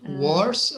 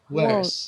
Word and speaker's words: worse: do you say them is it wars or is it is it a bit like an a sound worse what what what where's